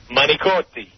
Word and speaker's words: Manicotti: Manicotti. Manicotti. Not Manigot. Yeah, C is not a G.